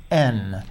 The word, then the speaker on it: Aisne: He just was in France, and he was in northern France in a town called Aisne. I want to know how it's spelled first. Well, Aisne is actually spelled A-I-S-N-E.